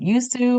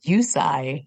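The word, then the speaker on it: Usui: we go we finally know how it is pronounced it's not Yu or yui it is yusi is how you pronounce it so I took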